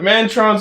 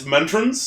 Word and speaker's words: Mentrons: The Mantrons also suck. Oh, you mispronounced that. It's Mentrons. The Mentrons?